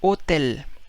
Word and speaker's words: hotel: H is always silent. For example, the word hotel. Spaniard would say. Where is hotel? Hotel. See, H is silent.